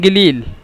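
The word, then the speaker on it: قليل: আর এটা হলো মহিলাদের জন্য, মানে হি তিতকাল্লিম গিলিল। এই গিলিল আমি লিখে দিছি, মানে মিশরেরা কফকে হামজা বলে, আর সৌদিরা কফকে গয়ন বলে, কফকে সবসময় গয়ন উচ্চারণ করে। মানে এই যে কলিল শব্দটি মূলত ছিল কলিল,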